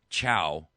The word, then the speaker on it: Chao: There was a hearing the other day in which Henry Chow, he works for the Centers for Medicare and Medicaid Services.